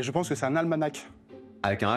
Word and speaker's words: almanach: Et je pense que c'est un almanach. Avec un H à la fin. Ouais. L'almanach. Bon, almanach. Oui, ça s'écrit almanach, mais on prononce pas le H.